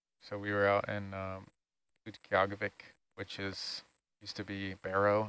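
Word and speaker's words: Utqiaġvik: So we were out in Utqiagvik, which used to be Barrow, Alaska, and went out on snow machines. Very good pronunciation, too, by the way.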